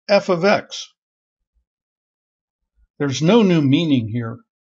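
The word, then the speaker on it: f(x): with function notation f parentheses X which is pronounced f of X there's no new meaning here function notation emphasizes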